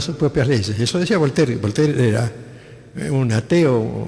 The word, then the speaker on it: Voltaire: ahí en algún diccionario volter se escribe voltaire volter volter decía que él no creía